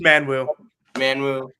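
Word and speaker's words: Manyawu: It's Manwu, Abreu, Mascari, and Jackson and then also Nate Ferguson as the sixth guy.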